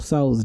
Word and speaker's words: Tso: I just looked up how to pronounce this General Tso. So okay. Yes, General Tso. You don't say the T. The T is silent.